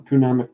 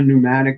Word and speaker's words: pneumatic: You can have a Punamic pin nailer. Some people call a pneumatic nailer. They totally drop the P. I don't get it. Yeah, we put a silent P in the front of the word.